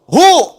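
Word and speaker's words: هو: Kalau Anda wakaf membaca kalimat bahkan dalam bahasa Arab apalagi Al-Qur'an berhenti pada kalimat hua, maka wya enggak bunyi. Bacanya hu wnya enggak bunyi.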